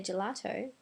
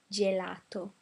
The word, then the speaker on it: gelato: remember first of all vowels are all open so I don't say gelato but I open that very well gelato Pizzeria Vino meaning wine